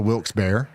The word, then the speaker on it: Wilkes-Barre: Most lifelong locals pronounce it Wilkes-Barre. Well, that's pretty close to Wilkes-Barre.